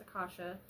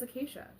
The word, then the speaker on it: Akasha: And yes, I know it's spelled or pronounced Akasha, but we've always said it as Acacia.